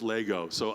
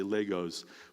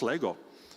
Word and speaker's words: Lego: So I think on the recorded version I say Legos, but then the internet attacked me. Swedes from the internet being like, this is not how it's pronounced. The plural is Lego.